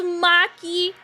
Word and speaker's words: Maki: It's pronounced Maki, not monkey.